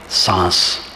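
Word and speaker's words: साँस: से लिखा जाता था सांस क्योंकि सांस में आधा अनुसार का उच्चारण होता है शांति में पूरा अनुसार और सांस में आधा अनुस्वार तो आधा अनुस्वार के लिए शब्द शास्त्रियों ने चंद्र बिंदु रखा अर्ध चंद्र लगा दो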